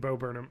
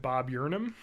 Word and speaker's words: Bo Burnham: so hard, is that I have purposely mispronounced his name a lot because I think it's funny. I call him Bob Yurnham, and every time I want to say his name, I want to say Bob Yurnham, because I've done it so much. I've trained myself into saying it wrong, so I'm always just